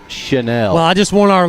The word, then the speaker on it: Channel: name of Bruce Chanel, spelled like channel, but Bruce pronounces it Chanel.